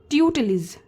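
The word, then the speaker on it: tutelage: क्या प्रोनाउंस करते हैं ट्यूट लिज ट्यूट लिज या फिर ट्यूट लिज मतलब आपको जो आपका ल का साउंड है वह एकदम लाइट रखना है ट्यूट लिज ट्यूट लिज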